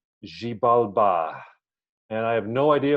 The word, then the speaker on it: Xibalba: He says it's Xibalba, but I always say Xibalba because I guess the English stress puts it that way.